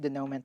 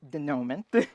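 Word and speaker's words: dénouement: the we Saga and I pronounced denom that way because in my school that's how we were taught not like the American pron pronunciation and not the French pronunciation and the rest of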